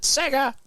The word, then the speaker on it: Sega: in the chat room 1991 you have to pronounce it Sega yep shut up yep that's how it was